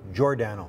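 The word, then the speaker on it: Giordano: weekend Grant and not a big surprise Mark girano did not win best acting for his commercial say his name again what did I call him it has now been changed to jordano oh okay this is just recently this past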